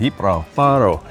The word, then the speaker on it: Gibralfaro: The G is silent. Ira Faro, right?